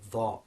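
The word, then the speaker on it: ظ: The dha. Now this is the emphatic version of the dhal sound.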